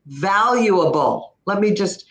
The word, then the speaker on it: valuable: Oh, there's another one, the word valuable. She missed the V and she missed both L's.